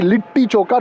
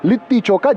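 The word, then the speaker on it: litti chokha: they were feeding me lit choka every day and Pata has corrected that it has to be lit choka not lit choka just as I keep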